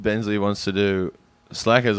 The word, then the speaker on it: Slackers: we're doing the movie slackers at 2002 make sure to pronounce the second s cuz I got confused